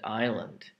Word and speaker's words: island: and the fact that there's an s in the spelling but you don't hear it so we have done the silent b and silent r now we do the silent s aisle is spelled in